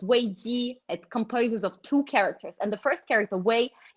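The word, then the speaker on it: 危机: In Chinese, the word crisis, it's pronounced wei ji.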